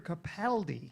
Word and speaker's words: Capaldi: argue with Ron bergy but he did not pronounce the name of the actor corre no he did not it's Peter Capaldi yes not because he's Scottish so let's all